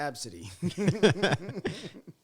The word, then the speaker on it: ABCDE: Pronounced Okay. Absidy.